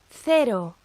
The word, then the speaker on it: cero: And in most of Spain, it's pronounced like the TH, the th, in thick or bath. Elsewhere in the Spanish-speaking world, it's pronounced like the S in sit or C.